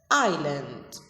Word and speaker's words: island: land surrounded by water island you should know that s in island is silent letter island number five violent